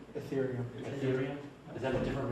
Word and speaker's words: Ethereum: the list that you showed, is it, how do you pronounce that? Ethereum.